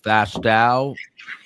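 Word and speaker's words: Fastow: William Fastau as it rhymes with now. The exlover of Anna Walsh.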